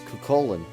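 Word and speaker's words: Cú Chulainn: Based on that rule, the only one who could have gay bulg is Cuchulainn. Again, I'm saying it as they pronounced it in the game. The Gaelic is very, very different, but we're just going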